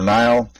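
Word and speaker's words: Niall: I'm Neil uh that's n i a l l pronounced Neil or Nile I was told there's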